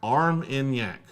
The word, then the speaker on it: Armagnac: Armagnac is pronounced Armagnac.